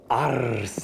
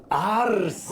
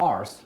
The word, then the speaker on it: Arce: Arce. Do it again. Arce. It's not arse, which is how they pronounced it.